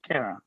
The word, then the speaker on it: Kera: It's Era with a K. Kera. Kera.